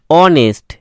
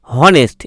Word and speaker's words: honest: আরেকটি দেখো HONEST, অনেস্ট। এখানেও দেখো হনেস্ট, এরকম উচ্চারণ কিন্তু হচ্ছে না, হনেস্ট, হনেস্ট এই ধরনের কিন্তু উচ্চারণ হচ্ছে না। কি উচ্চারণ হচ্ছে? অনেস্ট, অনেস্ট, অনেস্ট।